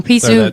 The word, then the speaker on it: Peaceoot: Peaceoot.